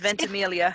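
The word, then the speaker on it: Ventimiglia: think that is it it's ventimilia it's Italian so yes it's not pronounced how it looks yes so he was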